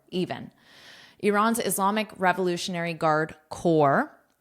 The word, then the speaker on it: corps: Notice my pronunciation here. So the P and S are silent. So it's the same as core, your core, or you can think of it as core principles, core, an apple core even.